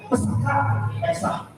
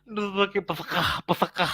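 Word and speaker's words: פסח: ya, pas pesta, Iya, pesaka. Iya, Passover, lewat pesta, iya, pesaka. Iya. Pesakah gitu ya teman-teman ya. Padahal Pak Gracia Pelo yang ngerti bahasa Ibrani bacanya pesak. Ini pesakah, harus ada harus ada kuah-kuahnya gitu ya teman-teman ya.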